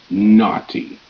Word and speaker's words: naughty: mother daughter and father naughty n a n t e t naughty GH is silent going to find out